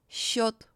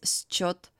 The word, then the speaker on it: счет: The combination of the letters S and Ch in Russian is most often pronounced as the soft sound Sh, similar to the sound in the word щетка. Щетка. For example, счет, счастье. We don't read these words as счет, счастье.